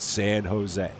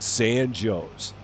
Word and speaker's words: San Jose: exact same spelling but it's not pronounced San Jose for whatever reason it is pronounced San Joe's it makes no sense